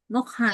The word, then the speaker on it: Ngoc Han: correct pronunciation? Mokhan.